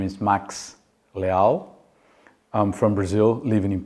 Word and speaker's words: Leal: Brazilian name, you say Leal. If you want to pronounce my name in a Portuguese name, you say Leal. Yeah. Yeah. Sounds kind of like legal, right?